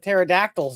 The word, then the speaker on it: pterodactyls: Yeah well yeah but I knew there was a silent p in front of pterodactyls then and the one in pneumonia but the the eldest